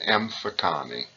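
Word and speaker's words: Mfecane: looks difficult you should memorize it and it's pronounced M Fattah knee and we're also going to talk about the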